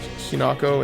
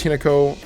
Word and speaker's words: Hinako: And I realize I've been saying her name I've been pronouncing it like two different ways. I've been saying like Hinako and Hin. I believe it's Hinako.